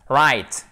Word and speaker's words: write: Regardez, write et pas write. Évidemment, vous le savez si vous avez l'habitude de suivre les cours, on ne prononce pas le W, chers amis.